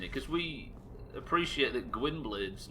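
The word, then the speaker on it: Gwynbleidd: Because we appreciate that Gwynblade's name should be pronounced Gwynbleith or something along those lines, but we don't pronounce it that way because they don't in the game for some reason.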